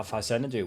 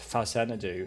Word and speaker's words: Faxanadu: That's using sprite priorities, like when I explained how Faxanadu worked. Yes, thank you to those comments who corrected me that it's pronounced Faxanadu and not Faxanadu.